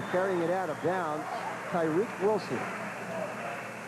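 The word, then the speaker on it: Tariq: And carrying it out of bounds, Tyreek Wilson. T A R I Q pronounces it Tyreek.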